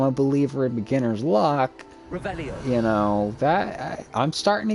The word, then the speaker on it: Revelio: Rebellious. Saying it wrong. Ugh, Rebelia. Much better. Oh, shut up. Wait. Revelio.